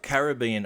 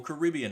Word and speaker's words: Caribbean: Now I took Caribbean Ocean, or Caribbean Ocean, depending on how you want to pronounce it.